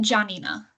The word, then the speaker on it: Janina: So, it's pronounced Janina. You were really close. Johnina.